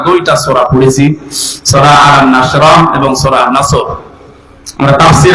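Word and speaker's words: نصر: আয়াতে না তিনটা সূরা তিন আয়াত বিশিষ্ট আসর নসর কাউসার তারপরে আয়াতটা পড়েছি এটা তেলাওয়াত শুদ্ধ অনেকের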